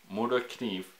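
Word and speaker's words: Morakniv: so more knives or more to achieve I think is how the Swedes pronounce their their brain it's a it's a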